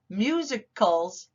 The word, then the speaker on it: musicals: what are musicals and it sounds like there's a u in here but that's the schwa sound musicals musicals are stories told